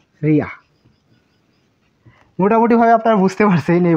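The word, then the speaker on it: りゃ: এটি কিন্তু রি ইয়া হওয়ার কথা ছিল, কিন্তু এই বর্ণের উচ্চারণ হবে রিয়া।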